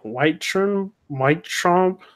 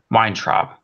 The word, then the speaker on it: Weintraub: And then Stephen Whitechomp, I think that's how you say it. He's for Collider. Hashtag Captain Marvel is a welcome addition. Yeah, Weintraub.